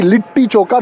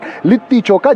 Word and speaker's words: Litti Chokha: They Patna, told me I'm their South Indian damad, because they were feeding me Litti Chokha every day. And Padmaja has corrected that it has to be Litti Chokha, not Litti Chokha.